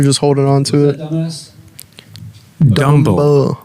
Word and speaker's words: Dumble: Dumble. It's pronounced Dumble, and it means stupid.